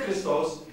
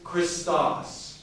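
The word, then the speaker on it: Χριστός: to say christos right don't say christos it's christos see that's chris now let me just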